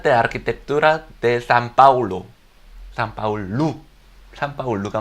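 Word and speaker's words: São Paulo: 나중에 제가 설명하기 어렵고 아직 저작권이 살아있어 사진을 막 돌리긴 그런데, 밀라노바 아르티가스 Facultad de Arquitectura de San Paulo, 산파울루가 맞죠, 현지 발음을.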